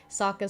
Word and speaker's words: Sokka: I do like how they're still keeping some of the same elements, like how in the last episode, Sokka said that his name rhymes with Akka, paying homage to the Tales of Ba Sing Se episode of him.